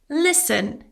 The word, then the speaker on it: listen: Listen. Silent T.